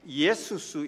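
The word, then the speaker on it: Ἰησοῦς: 것입니다이 예수라는 이름은 이름입니다 헬라 이름으로 예수스 이렇게 발음을 합니다이 예수스 그래서 우리가 아시는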